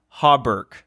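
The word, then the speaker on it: hauberk: So, are you familiar with a type of armor called a hobber? How do you spell it?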